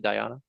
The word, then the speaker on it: dhyana: Is that how you pronounce it? Dhyana?